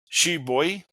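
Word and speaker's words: shibui: The next one is she boy which uh stands in in English it stands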